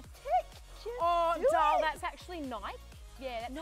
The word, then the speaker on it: Nike: this ad comes up 50% off at the Niki store. So what's Niki? Niki? Yeah. You know, the cute little active wear with the tick. Oh, doll, that's actually Nike.